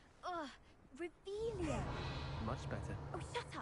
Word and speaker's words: Revelio: Rebellious. Saying it wrong. Ugh, Revelia.